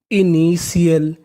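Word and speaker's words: initial: यानी आपको कहीं पर टी आई एल लिखा मिले तो आपको उसका उच्चारण करना है सीएल।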